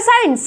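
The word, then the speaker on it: science: सी साइलेंट, यहाँ पे आपको दिख रहा है, दिख रहा है साइंस, सेंट।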